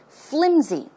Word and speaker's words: flimsy: It's not pronounced with an S sound, but it's closer to a Z sound. Flimsy.